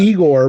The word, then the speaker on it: Igor: Igor, but pronounced Igor. I gore, you gore, we gore.